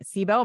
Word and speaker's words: SIBO: gut healing space she wrote a book healing sibo my pronounce that right CBO yeah you got it we could do a